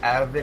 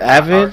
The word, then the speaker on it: AVYD: I think it's pronounced like Avid. It's AVYD.